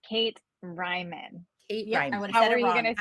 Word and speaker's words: Reimann: I there I went and said it wrong Ryman Ryman we will get it by the end of the show I promise pronunciation guide in our show notes so everybody